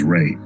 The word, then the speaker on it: Ra: of life and growth, which is pronounced as Ray, as in the rays of the sun.